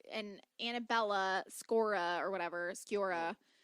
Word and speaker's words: Sciorra: Sciorra is how I would say. Oh, Sciorra? Okay. Sciorra. Yeah, I know how it's spelled, but saying it, my brain is like, I always want to call her Scioria, which it's not.